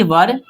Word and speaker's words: were: याद रखिएगा बहुत सारे लोग इसको वेयर पढ़ते हैं, WERE वेयर। नहीं दोस्तों, गलत होगा। आपको ये प्रोनाउंसिएशन अपनी अच्छी रखनी है। टंग ट्विस्टर की प्रैक्टिस की वीडियो भी मैंने कल एक डाली थी, उसको भी देखिएगा, जिससे क्या है कि आपका प्रोनाउंसिएशन अच्छा होगा। इसको बोलते हैं वर। क्या बोलते हैं, वर। मैं यहाँ पे हिंदी में लिख देता हूँ, वर, ठीक है।